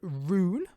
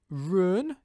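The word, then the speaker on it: Ruhn: pronunciation with you um i can either pronounce it roon roon or i can pronounce it uh run if you want me to try and sound more german but i'm not quite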